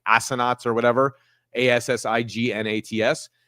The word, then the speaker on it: assignats: You can look it up, the pronunciation of it. It's something called like assignats or whatever.